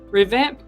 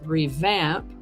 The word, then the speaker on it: revamp: Revamp can be a verb or a noun. As a verb, is pronounced revamp, and for a noun, it's pronounced revamp.